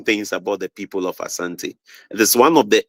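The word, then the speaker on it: Asante: could not pronounce the Asanti well but pronounce it Ashanti but we don't say Ashanti we say Asanti so there is a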